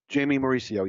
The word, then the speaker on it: Jaimy Mauricio: love Portuguese food and absolutely so when I pronounce her name earlier did I say it correctly Jaime Mauricio yes that's correct okay nice I was calling